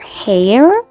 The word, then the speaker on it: Hare: "Sir Hare?" said Catherine. "Hare," said the March Hare. "Rhymes with mayor, but spelled with a G."